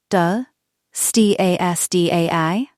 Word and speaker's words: Döstädning: The first concept is Döstädning, pronounced Dö, Stasdai.